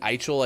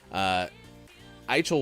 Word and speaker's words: Eichel: Jack Eichel, I believe, is the correct pronunciation of the former Buffalo Sabres captain.